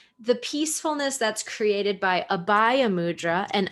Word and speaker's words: abhaya: peacefulness that's created by abaya mudra and abbaya mudra is spelled a b h a y a abhaya mudra and abhaya